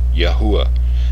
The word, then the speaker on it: Yahuwah: temple in 586 bce this name was regularly pronounced with its proper vowels yahuwah as is clear from